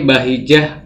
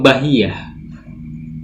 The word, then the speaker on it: Bahijah: Ini bahijah, murni bahijah, bukan bahiyah.